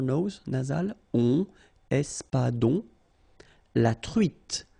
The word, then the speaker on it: truite: nasal, on, espadon, la truite, same thing here, final E not pronounced, T, la truite, le maquereau,